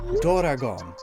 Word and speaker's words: doragon: and all that, they usually use doragon, which is the Japanese way of pronouncing dragon.